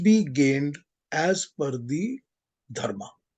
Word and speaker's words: Dharma: four words are dharm Earth sorry can you spell it for me dharam is Dharma d-h-a-r-m-a Earth is a r t h calm